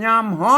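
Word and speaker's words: ยามฮ้อน: ภาษา ลนา เพิ่น อ่า เอา ภาษา ไทย เพิ่น อ่าน ว่า ยาม ร้อน อัน ภาษา ลนา เพิ่น อ่าน ว่า ยาม ฮ้อน น เพิ่น บ่ ใช้ ตัว ฮะ นะ ครับ เอ้อ เพิ่น บ่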